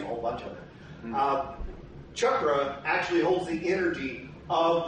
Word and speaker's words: chakra: It's actually pronounced in Sanskrit as chakra. I graduated from Ash Grove. I'll be saying chakra because that's the way we talk around here.